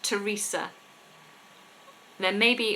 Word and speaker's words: Teresa: So we always stick our tongue between our teeth with THs, apart from the names Thomas and Teresa.